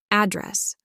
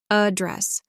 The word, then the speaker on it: address: we address this issue it's always address with second syllable stress address address Bass with the AA